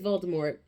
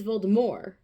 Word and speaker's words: Voldemort: know who, or whatever, his name is Voldemort in the movie with a T at the end. And then in the book, in the audiobook, it's Voldemort with no T.